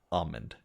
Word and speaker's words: almond: you say almond I I've met somebody who says almond with no l at all almond I think I say I say all I I say almond snazzy snazzy snazzy a